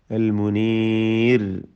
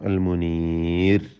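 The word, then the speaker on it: المنير: വബിസ്സുബുരി വബിൽ കിതാബിൽ മുനീർ അൽ മുനീർ റായിനെ തർക്കീഖ് ചെയ്യേണ്ടതാണ്. റായിൽ വഖഫിന് വേണ്ടി സുക്കൂൻ വരുന്നു. തൊട്ടു മുമ്പിൽ സാക്കിനായ യാ ഉണ്ട് എന്നതുകൊണ്ട് തർക്കീഖ് പൂർണ്ണമായ നേർപ്പിച്ചുകൊണ്ടുള്ള ഉച്ചാരണം നൽകണം. അൽ മുനീർ.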